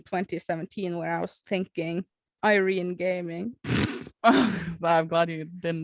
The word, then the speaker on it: Irene: When I meet people that are not natively Norway people or something, they're foreign language, another language than Norway, and I say my name is Irene, they say Irena. They think it is they always think it is an A at the end.